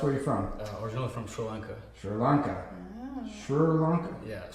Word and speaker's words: Sri Lanka: Suranka. Yeah, it's S R I. But you say Surri. Yeah. Sri. Yeah. Sri Lanka. That That's the way it's pronounced. Sri Lanka.